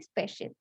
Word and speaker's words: spatial: इसका SPATIAL भले ही वो स्पेलिंग हो, बस इसको बोलते हैं स्पेशल। ठीक है, इसमें टी साइलेंट है।